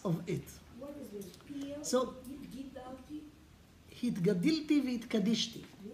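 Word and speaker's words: והתגדלתי והתקדשתי: Hitgadilti v'hitkadishti. Ah, okay, that's grammar. Let's keep the grammar now. But that's the way to say it.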